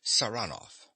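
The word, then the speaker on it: Saranoff: him round this way he pronounces the name with a stress on the second syllable saranov nicola yes sir he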